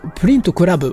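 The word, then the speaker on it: プリント倶楽部: voici la deuxième version, que l'on prononce Print Collab en japonais.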